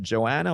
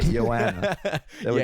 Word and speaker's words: Joanna: Is it Joanna or how did you pronounce it? Oh, man. It's so simple. was just Yanni and Janeik. Okay. Yanna. So Yana. Yeah. Yanna.